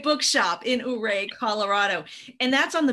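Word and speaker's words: Ouray: perennial favorite or the uray it's you rey not right it's pronounced many different ways okay whatever however you feel compelled to pray my way yeah right book shop in hooray colorado and that's on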